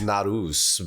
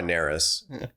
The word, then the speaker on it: Narus: So, Norris, Norris, whatever, however you you pronounce it is is how do you pronounce it? Well, technically it's Narus, but that sounds that makes me sound way cooler than I am.